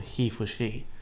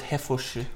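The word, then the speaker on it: HeForShe: Because even Emma Watson's initiative at the UN is called He for She, Ooh. which is an initiative to try and get men to promote feminism. I thought Yeah. it was Hefosh.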